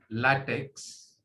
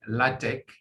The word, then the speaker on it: LaTeX: is the pronunciation so okay so it's not pronounced latex uh the way the way some of you do it's pronounced latex because it's it's greek it's not english so